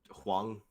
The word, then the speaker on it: Whang: be Hwan ji yeah how would you even pronounce that Wong Wong okay yeah gotcha yeah that's